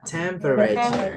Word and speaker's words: temperature: Tur itu bacanya cher ya, temperature.